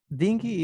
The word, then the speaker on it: dinghy: Dinghy is a small boat, but let's have the correct pronunciation for that, because it can be dinghy.